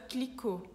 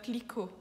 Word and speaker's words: Clicquot: companhia, então ficou Veuve Clicquot. Aqui, Clicquot tem um T mudo no final do sobrenome.